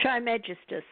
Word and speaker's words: Trismegistus: Triskemiscus? I never knew how to pronounce that. How do you pronounce that? Trismegistus.